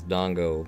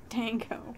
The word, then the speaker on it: dango: His dongo. That's an unfortunate time to pronounce it correctly. His dango.